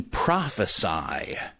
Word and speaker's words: prophesy: so-and-so uttered a prophecy, and the verb to prophesy. Now, prophecy, the noun, the prophecy of the 7 weeks, that's spelled with a C, that is P-R-O-P-H-E-C-Y, whereas prophesy, and that is how you pronounce that, the verb.